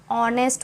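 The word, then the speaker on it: honest: तो अंडरलाइन किया बट हम इसको बोलते कैसे हैं ऑनेस्ट बोलते हैं एज साइलेंट होता है बोलते कैसे हैं इसको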